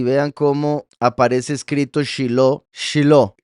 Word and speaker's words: Shiló: Shiló, que sería como Sheila. Vean, debería ser así, Shilo, pero en la Torá está escrito así. Se pronuncia igual, pero vean que termina con una he en vez de con una va.